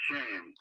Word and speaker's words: Shayne: It was always Shayne, pronounced Shayne.